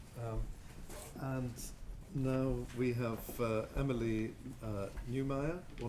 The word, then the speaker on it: Neumeier: And Now we have Emily Neumeier, or Neumeier. I didn't ask you how you pronounce it yourself. I say Neumeier. Neumeier, who's going to talk about an Albanian vizier's claim to antiquity in Ottoman Greece.